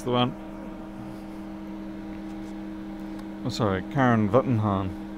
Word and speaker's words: Wittenhahn: Oh, sorry, Karen Wittenhahn. I suppose it depends if you're in America, then you pronounce it as a W. If you're from other places, you pronounce it as a V.